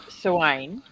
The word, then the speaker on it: Samhain: so it's pronounced Soane. Is that right? Sowen.